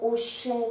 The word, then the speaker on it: hochet: s voilà la concernant le mot hochet dont on aime bien dire que la lettre h ne se prononcera pas ensuite dans cette petite